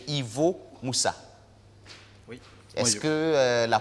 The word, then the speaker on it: Ivo Moussa: Ivo Moussa. Est-ce que la prononciation du nom est exacte? C'est exact. Monsieur Ivo Moussa.